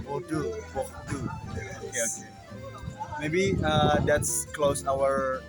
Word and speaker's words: Bordeaux: Bordeaux, not Bordeaux. Yeah. No. You don't say the X. Bordeaux.